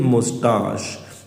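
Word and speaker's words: moustache: कि I would shave daily मैं रोज-रोज़ शेव करूंगा एंड ग्रो इट्स थिन मोस्टाश इसकी प्रोनाउंसिएशन मोस्टाश मुश मुसश ठीक है मुस्टचे नहीं है ये मोस्टाश स्पेलिंग भी याद कर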